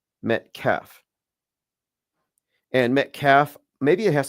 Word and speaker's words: Metcalf: Yeah, I was mispronouncing it. It's Austin Metcalf.